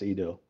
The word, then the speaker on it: Edel: Yeah, it's pretty close. It's Edel. Edel.